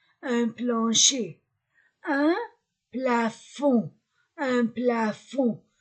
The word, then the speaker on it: plafond: plancher un plafond un plafond je ne prononce pas le d une lampe une lampe